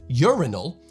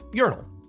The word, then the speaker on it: urinal: So with this word, rather than urinal, I and many Americans would pronounce it urinal. Urinal. Urinal. The second syllable sort of fades away, but the accent is on the first syllable.